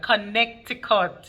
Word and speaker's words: Connecticut: That's what we say back home in Jamaica. Connecticut. You hear all the syllables?